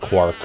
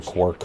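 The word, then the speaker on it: Qwark: Oh, it's pronounced Quark. I've been saying Quark.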